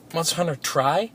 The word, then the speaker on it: Monster Hunter Tri: Monster Hunter Tri? Yeah, that's how you pronounce Monster Hunter 3.